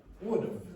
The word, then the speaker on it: would've: Would've is one example. Now, could you pronounce that for me again? This way? Would've. What does that sound like? Forget about again. It sounds like the word of.